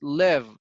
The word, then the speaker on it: live: Yes, so I dwell is similar when you say live, not leave. Yeah, pronunciation, right? We don't say is this is short. It's live, not leave.